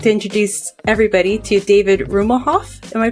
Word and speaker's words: Rummelhoff: marketplace I'd like to introduce everybody to David rhew mohawk am i pronouncing that right it's rummel HOF Omaha yay so tell us a little bit